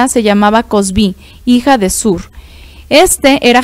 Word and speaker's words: Kozbí: Aquí lo puse con K porque aparentemente es como la mejor transliteración, aunque no importa, pero la pronunciación según lo que estuve analizando, pues es es cosb, ¿sale?